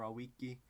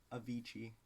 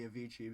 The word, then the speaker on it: Avicii: Is it Avicii or Awiki? I don't think you would use Latin pronunciation. Avicii. No, it would still be Avicii because ecclesiastical Latin.